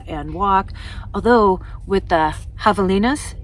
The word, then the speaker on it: javelinas: Although with the javelinas, yes, no, they're not javelinas, although it's spelled with a J, kind of like jalapenos.